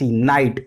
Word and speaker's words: knight: इसी तरह से KNIGHT, नाइट। नाइट होता है पर इसमें के साइलेंट होता है, के की आवाज नहीं आती।